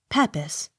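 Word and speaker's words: Pepys: e p y s peppis accent on first syllable p i e r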